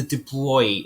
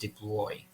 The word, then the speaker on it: de Broglie: ignore comes in so it's known as the de bruy equation i know it's spelt de broglie but it's usually pronounced de bruy so uh louis de boy was a scientist